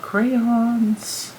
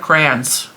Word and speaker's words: crayons: Growing up, I said crayons. C-R-A-N-S. I said crayons. That's how I said it growing up. Now I say crayon.